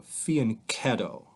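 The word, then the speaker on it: fianchetto: you the word faneto it's an Italian word and it's got a hard C sound so fan ketto and you can faneto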